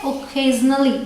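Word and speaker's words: occasionally: ख होती है तो इसे प्रोनाउंस करते हैं ओजली ठीक है इसका मतलब होता है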